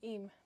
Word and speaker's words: Eyam: I kept saying em, but then I heard someone say E, so I now feel weird.